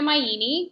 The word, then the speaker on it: Maini: I'm Gina Maini. My last name rhymes with linguini, so easy to remember that.